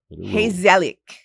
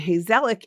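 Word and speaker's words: gezellig: Hazelic. Heselic. In Dutch, it's spelled G E Z E L L I G. And Hazelic is, and I love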